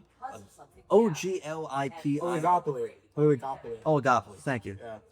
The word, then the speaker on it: oligopoly: video that he had on I can never pronounce this word. Ogliopoli. Oglipi. Oligopoly.